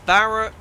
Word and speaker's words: Barranquilla: Now, how do I pronounce this? It's Barranquilla.